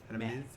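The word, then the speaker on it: Hermès: Hermes. Hermes. Aramis. Hermes. You probably don't pronounce the S.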